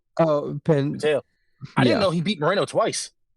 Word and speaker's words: Pantoja: Penteo. Oh, Penteo.